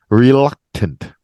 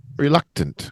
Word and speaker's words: reluctant: just like up yeah like luck that's like the U pronunciation there one of the U pronunciations reluctant reluctant yeah because you're not